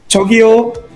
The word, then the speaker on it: 저기요: So 저기요. 저기요. Yeah, 저기요, like calling out people, 저기요, 저 좀 도와주시겠어요?